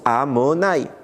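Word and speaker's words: Adonaï: On le prononce pas Yutke Vafke, on le prononce Amonaï.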